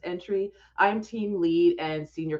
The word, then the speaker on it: Antwi: You'll see on the screen there, it's pronounced Entry.